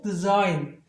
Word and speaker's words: design: 그래서 얘를 sign 이렇게 되죠. 이렇게 되면은 여기 액센트가 여전히 있거든요. design 이런 식입니다.